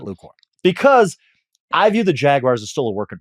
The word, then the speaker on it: Jaguars: The Jaguars look like a playoff team. Frank, are you buying the Jacksonville Jaguars, which is the proper pronunciation, not Jaguar?